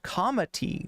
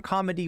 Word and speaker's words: comity: No, comity with a T, not with a D.